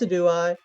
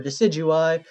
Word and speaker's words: Decidueye: a signature egalop that's a do i or decidueye uh i i say it both ways uh yeah you're gonna